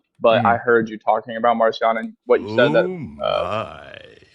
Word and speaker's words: Marcion: The gospel, according to Mark, would be like, Marcion. Marcion's name was actually pronounced Markion. It means little Mark.